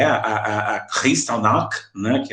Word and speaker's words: Kristallnacht: da Segunda Guerra Mundial, tá, que é a Kristallnacht, né, que é a pronúncia, né, em russo, lembrando que eu falo russo fluentemente, tá?